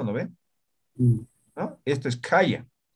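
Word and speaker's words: khaya: No es complicado, mira. Aka, uka, kaya, kuri, ¿no? Simples, ninguna es, no, esto es aspirado, estos dos aspirados, ¿no?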